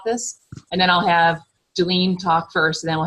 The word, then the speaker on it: Julene: Is that you say Julian or Julien? How do you say that? Okay, it's Julene. Julene, okay.